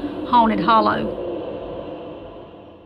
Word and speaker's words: Haunted Holler: My mom was raised in a place in Georgia called Haunted Holler, which the correct pronunciation would be Haunted Hollow.